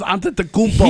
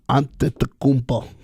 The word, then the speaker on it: Antetokounmpo: If you First- actually take your time and look at his name as it's spelled, it makes sense. I've got no time for that. Antetokounmpo.